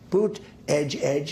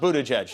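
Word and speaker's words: Buttigieg: in and it took two days and then boot Edge Edge as you say boot Edge Edge uh called and I guess two days late though yeah when in doubt Miss pronounced Buddha jedge that's how you do it Elon Musk who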